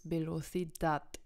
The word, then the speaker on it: velocidad: ein paar Beispiele also das Wort velocidad Geschwindigkeit endet auf dem D&D passt nicht zu NS und Vokal deswegen wird es auf der letzten Wort Silbe betont deswegen heißt es Belo Sedat also die Betonung ist da hinten relog genau dasselbe endet